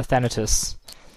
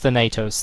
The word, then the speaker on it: Thanatus: bringing in a uh thanatus which is not pronounced Thanatos thank you internets uh